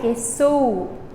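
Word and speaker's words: យេស៊ូ: Jesus is Ye Su. Pre, Yesu. Su is your accented syllable.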